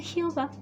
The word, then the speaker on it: Jehová: Así la E es como que es una EA y suave, Jehová.